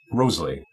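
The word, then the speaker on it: Wriothesley: rose in those poems, likely a play on Henry's last name, which would have been pronounced Roseley at that time.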